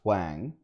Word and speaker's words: Huang: I learned from her talking that apparently his name is pronounced Huang. I've been saying it wrong all this time.